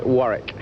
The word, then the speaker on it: Warwick: Warwick. It's not uh as Dee-on Wool-wick, it's Warwick. Without without you don't pronounce the second W.